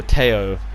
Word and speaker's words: Theo: Theo Hernandez, or Teo probably as it's pronounced because he's French, gave away a penalty